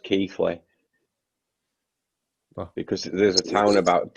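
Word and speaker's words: Keighley: ps5 and ps4 this holiday it's um it's pronounced keithley because there's a town about 10 miles away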